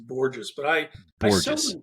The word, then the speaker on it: Borgos: Yeah, my last name is pronounced gorgeous, but I still correct